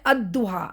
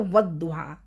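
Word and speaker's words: الضحى: देखो अब ये वुहा है ना तो मैं अदुहा अगर अकेला पढूंगी तो अदुहा और मैं वाव के साथ पीछे से मिला रही हूं तो वुहा हम इसी तरह सारे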